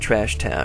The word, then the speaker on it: Trashton: to be trash town or trashton which is pronounced trash town we going to make